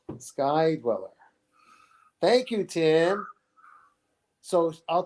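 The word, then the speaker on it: Sky-Dweller: good ones uh the sky dweller white dial guy dweller thank you i never pronounced anything right sky dweller thank you tim so i'll tell you my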